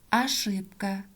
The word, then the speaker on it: ошибка: октябрьский тоже безударная гласная о производим как а ошибка тоже безударная гласная произносим как домашнее задание упражнение 6 страница 73